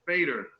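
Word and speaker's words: veder: Fader. Middle Dutch. And that would be fader again, because the V would be an F sound for them.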